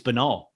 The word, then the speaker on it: banal: banal It's banal.